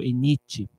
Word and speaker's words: ENIT: T é mudo, ENIT.